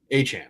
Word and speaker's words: Etienne: Achan, I'm sorry.